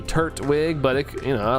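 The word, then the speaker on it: Turtwig: Uh, you pronounce it as Turwig. Turwig. It might be. I don't know. I say Turwig. I see it as turt like turtle. Turt turtle. So turt wig, but it, you know, I don't know.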